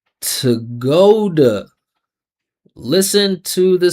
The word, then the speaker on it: to go to: Listen to the sounds. Follow the vibration. Tuh-GOH-duh. Tuh-GOH-duh. That's how you should be pronouncing this every single time.